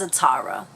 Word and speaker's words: Zatanna: Okay, it took me a little bit of time, so it is Zatanna, because in my head I'm like, am I pronouncing it correctly?